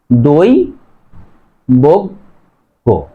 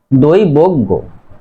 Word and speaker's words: দৈবজ্ঞ: বর্ণ বর্গী জয়ও আছে, তাহলে উচ্চারণ হবে দই বজ্ঞ, দই বজ্ঞ।